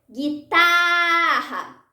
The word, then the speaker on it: guitarra: Guitarra. Guitarra. Tá é a sílaba tônica.